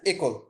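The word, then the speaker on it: école: এই একলটা মানে হচ্ছে স্কুল, ইংলিশ হচ্ছে স্কুল বা বাংলা হচ্ছে বিদ্যালয়, ই এর উপরে অ্যাকসেন্টটা বসে হচ্ছে একল।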